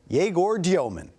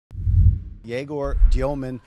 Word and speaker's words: Egor Demin: Here's the number eight pick, Jaor Dyman. Jaor Dyman. And I got that right. Right. That's the correct pronunciation.